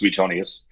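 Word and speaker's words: Suetonius: of uh the writings from the ancient historian Sutonius. It' be pronounced Sutonius.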